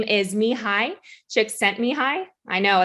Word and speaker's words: Csikszentmihalyi: the father of flow so his name is me hi chick sent me high i know it's a mouthful i had to